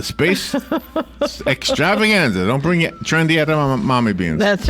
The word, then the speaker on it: edamame: The trendy edamame bean.